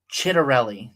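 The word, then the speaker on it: Ciattarelli: So then we look at the So Mikey Cheryl is crushing um Jack I think it's pronounced Let me see how exactly it's pronounced. Chitterelli.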